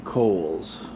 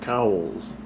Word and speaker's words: Cowles: And that hill over there is spelled Cowles, but the man after whom it is named pronounced his name Cowles, but everybody seeing it written down says Cowles, Cowles Mountain.